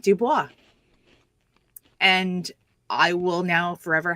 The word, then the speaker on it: Du Bois: Of course I know how it's pronounced. It's W-E-B Du Bois, not Dubois.